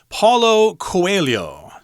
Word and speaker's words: Paulo Coelho: and about the author himself if i can pronounce it in portuguese paulo coelho uh yes this author is from brazil they